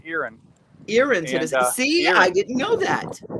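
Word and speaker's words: Erin: we're really really glad to be in in irin it's pronoun by the way Devon it's not it looks like Ain e r i n but it's pronounced irin irin I didn't know that you're in Tennessee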